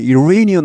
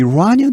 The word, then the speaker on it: Iranian: 여기 이 발음도 저는 Iranian 하는데 요즘은 미국 사람들이 Iranian 이렇게 많이 하는 것 같습니다.